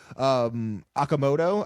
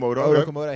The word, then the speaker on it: Okamoto: which is just, I mean, so the rookies, Okamoto, I believe is how you pronounce Okamoto.